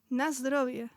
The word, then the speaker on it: Na zdrowie: Na zdrowie.